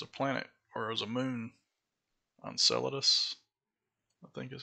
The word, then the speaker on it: Enceladus: more like there's a planet whereas a moon Enceladus I think is how you pronounce it it's around Saturn or maybe I